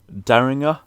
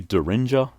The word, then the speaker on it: Daringer: alchemist and action bronson daringer i think that's how you say his name maybe derringer i'm gonna say daringer he was on there